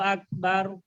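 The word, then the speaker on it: أكبر: আল্লাহু আকবার হ্যাঁ, এখানে লামটাকে মোটা করব, আল্লাহু আল্লাহু আকবার। আল্লাহু এখানে বারু রটাকে মোটা হবে, বার হবে না, আকবার বলে পাতলা হয়ে গেল, রটাকে মোটা করে মুখ ভরে বলতে হবে, বাউ আকবার বারু বারু বারু বারু আকবার।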